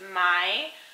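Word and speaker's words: maj: have a duration of her name which is my um and it means May in Swedish so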